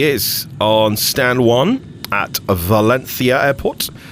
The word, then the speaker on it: Valencia: And here she is on stand one at Valenthia airport. Valenthi. See, I'm I'm doing the pronunciation correctly for our Spanish viewers. And we're going to take a quick flight today from Valencia.